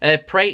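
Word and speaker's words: Pereira: half like I mentioned before with the handball pre is how you say his name he had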